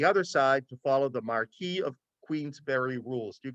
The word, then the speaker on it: Marquis: side to follow the Marquis of Queensbury rules do you guys know what the Marquis of Queensbury rules are they were created in Great Britain and there they're pronounced the Marcus of Queensbury these are the original